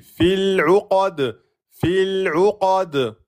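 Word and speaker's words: فِي الْعُقَدِ: Et là, vous allez passer de fi directement au lem. Fil. Bien sûr, le lem soukoun, un temps et demi. Fil 'uqad.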